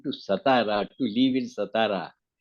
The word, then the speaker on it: Satara: satara to leave in satara actually the pronunciation is satara not satara not sat so Baba had it